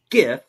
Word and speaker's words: GIF: explains to Cross that a GIF, pronounced GIF, stands for graphics change format, not graphics change format.